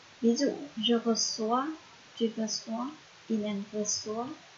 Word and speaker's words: reçois: Ở một số ngôi chủ ngữ phải thêm dấu móc ở phía dưới chữ C, nếu không thì sẽ đọc là cờ. Cho nên thêm dấu móc ở phía dưới thì sẽ đọc là sờ.